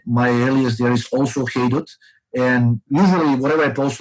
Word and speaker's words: Haydut: I go under the moniker Haydut. It's spelled H-A-I, D as in dog, U, T as in Tom.